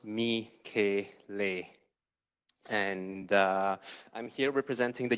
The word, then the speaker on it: Michele: For the ones that don't know how to read Thai, it's pronounced Michele.